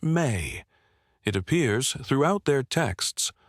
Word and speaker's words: me: In Samrian, the word me is pronounced may. It appears throughout their texts, always referring to the same thing. Fundamental powers or principles that make civilization function. Kingship is a mei.